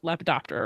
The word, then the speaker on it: lepidoptera: the shye global change lab Bon did I pronounce lepidoptera right you did it was fantastic already starting